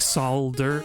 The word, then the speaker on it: solder: sort of PR like solder Soul sold solder I guess it's the L really that you don't pronounce but like like so